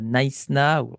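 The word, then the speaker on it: Knysna: Vous êtes à Naïsna, c'est comme ça qu'on le prononce apparemment, j'ai vérifié sur C'est Wikipédia, ça.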